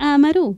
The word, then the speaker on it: Amaru: Y lo tenemos también a Maru, invitado especial. ¿Cómo le va? ¡Qué fenómeno! Amaru sin acento en la U.